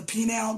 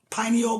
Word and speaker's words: pineal: call it don't they like to call it the penile gland pineal gland every you know people